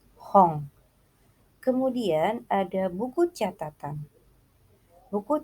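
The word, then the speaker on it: 本: Buku dalam bahasa Jepang itu hong. Tulisannya H-O-N, akan tetapi N yang ada di belakang itu dibacanya eng, jadi hong.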